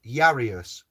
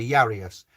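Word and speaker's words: Jairus: i r u s and as yanker is spelt with a j and we say yanka j i would i would argue but jesus is spelled with the j and we say yeah well it's jesus jesus you know certain things so i'm going to say yarius and yarius the high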